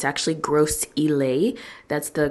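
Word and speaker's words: Gros Islet: like a whole strip of restaurants and malls gross is lit I stand corrected it's actually gross elay that's the correct pronunciation for it in St Lucia shout out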